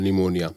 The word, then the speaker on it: pneumonia: You must have heard the name of a disease called pneumonia. Yeah. Right. So pneumonia sounds like it starts with N, but it starts with P. P is silent there.